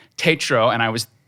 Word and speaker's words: Tatro: of those things and i found out lauren pronounces her name tatro and i was saying it wrong all along